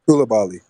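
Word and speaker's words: Coulibaly: say his name because I don't want to mispronounce it. It's the guy from. Koulibaly.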